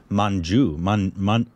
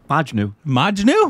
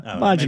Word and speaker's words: Majnu: it's called Mission Manju. Manjunu? Mission Majnu. How do you say that? Majnu. Yeah, Majnu.